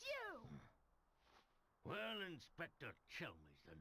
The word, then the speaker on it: Chelmey: Well, Inspector Chelmey's the name. Chelmy, I've been saying his name wrong the entire time.